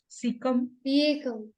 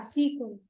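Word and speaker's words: caecum: so it is called as how you PR pronounce it c c c a e seeum yeah seeum so animals like horses rabbits they also have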